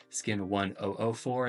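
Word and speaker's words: SKIN1004: it's like skin 1004 but they pronounce it uh skin 1-ohhh- 4 and the 0s sort of blend together.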